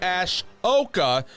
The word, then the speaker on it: Ahsoka: Star Wars podcast to actually pronounce Ash Oka correctly you're welcome Dave filoni I'm